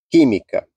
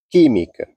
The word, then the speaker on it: química: do final eh última penúltima antepenúltima e a sílaba tônica tem que ser acentuada química química tem que ser acentuado se você não acentuar